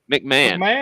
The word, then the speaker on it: McMahon: Mike Mahone. How do you say that? Mike McMahon. McMahon. Like Vince McMahon.